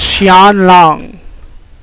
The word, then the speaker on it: Xi'an: of chinese words and somehow x makes an sh sound so it's xi'an don't ask me and